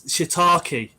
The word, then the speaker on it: shiitake: leah scott where did you get your it's shiitake i can say it properly now because phil's